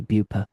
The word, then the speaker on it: Beaupre: It should be Beauper.